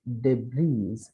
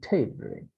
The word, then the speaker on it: debris: Because it is not debris, but it is debris.